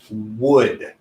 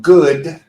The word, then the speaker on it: would: this word we need to use the word would so the sound that we can make is